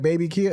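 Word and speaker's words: BabyKia: I don't know if am I pronouncing his name right baby Kia it's baby Kia yeah baby Kia yeah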